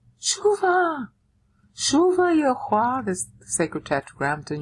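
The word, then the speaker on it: שובה: And it's pronounced Shuva. Shuva.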